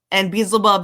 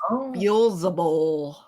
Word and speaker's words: Beelzebul: And Beelzebub is, of course, not his real name. No. It is a mispronunciation. There's reasons for that, as we discussed also, that they purposely miswrote their names from the Testament of Solomon. So, but I know his real name, and it is Beelzebul.